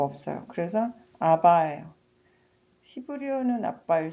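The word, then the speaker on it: Abba: 아바 father 아빠 아버지. 영어에서는 자음 두 개가 이렇게 세게 발음하면 안 돼요.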